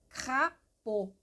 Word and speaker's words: crapaud: Crapaud. Lembrando que esse A mais U, ele é um O. Imagina o O com acento circunflexo.